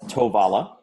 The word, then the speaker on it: Tovala: years later, you start Tovala. Did I pronounce it correctly? You nailed it.